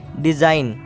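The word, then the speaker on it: design: एन से पहले अगर जाता है तो जी साइलेंट रहता है जैसे की डिजाइन नई डिजाइन में कि क्या एन से पहले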